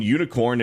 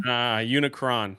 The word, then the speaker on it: Unicron: Just bring in Unicorn and end it all. Unicorn? Unicron. Unicron, not unicorn. Bro. Yeah, it is Unicron.